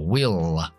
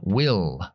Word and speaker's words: will: Pronunciando la L oscura al final, will, subiendo la lengua más atrás y tocando los dientes superiores con la punta de la lengua, will, will.